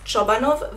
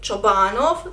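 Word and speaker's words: Čobanov: My surname is Chobanov with the letter Ch. It's a Croatian surname and not even Croatian folks pronounce it right. They read it Chobanov.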